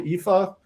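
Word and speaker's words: Aoife: here of a character called Epha. I know that's not what this looks like it spells, but trust me, in the way that Irish mangles the English uh or the Roman alphabet, that is pronounced EA.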